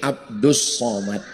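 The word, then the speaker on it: عبد الصمد: umma Allah yang Somad kalau ini Abdus Somad tulisannya Abdul Somad tapi cara bacanya Abdus Somad jadi tulisan itu enggak mesti sama dengan bacaan Oh masa begitu lihat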